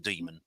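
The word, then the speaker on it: dæmon: stand the man um he he has the same word and um he he pronounces it demon and um it refers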